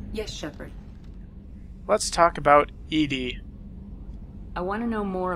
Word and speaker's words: EDI: airlock is a jar why are you named Edie the phonetic pronunciation of EDI that is an acronym for